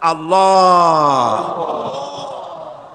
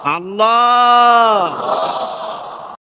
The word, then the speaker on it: আল্লাহ: আল্লাহ পাকের উচ্চারণটা হচ্ছে, আল্লাহ পাকের নামকরণ হচ্ছে আল্লাহ। মুখটা একটু গোল হয়ে যাবে, বলেন আল্লাহ আল্লাহ আল্লাহ।